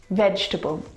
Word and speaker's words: vegetable: is a challenge because it looks like there should be four syllables in this word vegetable but there's not there are three syllables veg taboo can you see the syllable that we completely forget the e veg vegetable vegetables fantastic